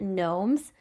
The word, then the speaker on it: nome: And remember those were called gnomes. Um and not spelled like a garden gnome but n o m e because uh remember the whole conflict between Seth or Seth and Osiris his brother.